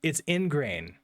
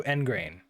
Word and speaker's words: ingrain: Is this how to pronounce it? Or is it actually ingrain? Oh, it's ingrain. Also engrain.